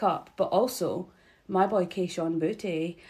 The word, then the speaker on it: Kayshon Boutte: But also, my boy Kayshon Boutte. And if you ain't saying his name like that, you're saying it wrong.